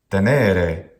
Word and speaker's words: tenere: Tenere is completely wrong. It must be tenere. This is a long syllable.